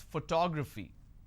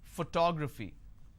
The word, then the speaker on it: photography: I pronounce this as photography how do I pronounce photography and how many syllables do I have here photography four syllables but in this case I stress on the second syllable that is what word